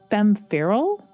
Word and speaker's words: Femme Feral: Coming up next, we have Femme Fatale, is how I want to pronounce it. It's Femme Feral, I think, but I want it to rhyme with Femme Fatale so badly.